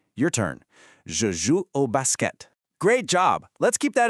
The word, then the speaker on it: basket: So, the phrase is je joue au basket. Listen to the native pronunciation and pay attention to how crisp that T is at the very end. Your turn. Je joue au basket.